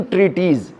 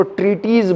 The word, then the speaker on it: treatise: तो उन्होंने 3 ट्रीटीज़, right, इसको ट्रीटीज़ बोलते हैं, राइट। आप चाहें तो इसको लिख लीजिए, मैं स्पेलिंग बोले देता हूँ आपको।